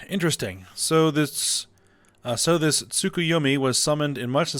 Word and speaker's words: Tsukuyomi: tea you claim us a table alright it's pronounced tsukuyomi correct I figure from Far Eastern mythology no